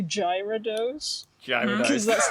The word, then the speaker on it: Gyarados: yeah, because you just skip over the Y. It's just Gyarados.